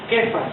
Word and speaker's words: Cefas: es una palabra caldea que se pronuncia kefas o se escribe kefas con k y es hace referencia